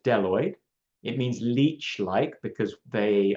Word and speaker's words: bdelloid: The kinds of rotifers that that Levenhawk first saw are these ones called deloid rotifers. The B is silent, so it's just deloid.